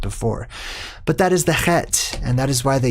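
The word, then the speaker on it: חית: It is called Chet, or you would probably pronounce it Chet if you read how it is spelled, C-H-E-T.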